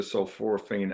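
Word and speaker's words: sulforaphane: Uh, of course we just talked about um uh sulforophane. That's how they pronounce that.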